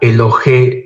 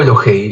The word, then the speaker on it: Elohei: Aquí abajo tenemos la palabra Elohe o Elohei. Ya saben, la pronunciación dependerá la academia, el seminario, el instituto donde hayan estudiado.